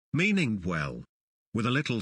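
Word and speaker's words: oui: come comes from the Egyptian word o meaning well with a little sound shape Association applied to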